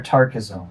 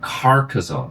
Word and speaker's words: Carcassonne: Carcassonne or Tarkazone? Carcassonne. It's a city in France.